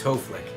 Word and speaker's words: Hoeflich: This week I want to talk about Jonathan Hoeflich. I hope I said his name right. Hoeflich. It's not Hoeflich, it's Hoeflich.